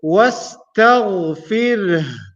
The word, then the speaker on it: واستغفره: So we will say wastaghfir. Remember, the sound of ha is still there at the end.